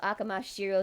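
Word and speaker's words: Amakusa Shirō: it yeets out Shiro, Akamasa Shiro. I'm saying it in the way it's pronounced in Japanese. So Akamasa Shiro then gets spit out.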